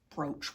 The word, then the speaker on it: brooch: ran over grandma's brooch a brooch is like a pin brooch what rhymes with brooch roach yes roach roaches like people food